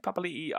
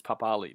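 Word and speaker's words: Papali'i: it's pronounced properly though we all used to think it was papali but um his name he wanted it to be pronounced papalii because apparently that's what it is so that's how i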